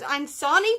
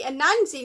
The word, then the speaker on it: Anansi: Anansi Boys, and weirdly I've been pronouncing this as Ansani Boys for like ages now, and I've definitely gotten that wrong because it's actually clearly a Nancy Boys, as you can see, and this one isn't